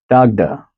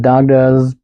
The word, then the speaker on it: Dagda: And here's one that's a bit more phonetically American friendly. Dagda, spelled D-A-G-D-A.